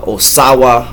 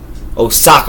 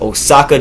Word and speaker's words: Osaka: But Katsunari Takayama out of Osawa, or is that how you say it? Osawa? Where is it? Osaka, my bad. Osaka, Japan.